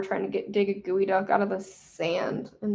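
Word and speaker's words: geoduck: I think I think it's just g eo duck, but it's pronounced gooey duck, but I could be wrong about that.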